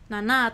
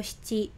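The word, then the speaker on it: 七: Nah, untuk angka 7 ya minasang kan ini bisa nana atau shichi, tapi dua-duanya juga sama gitu ya, tidak ada yang salah gitu.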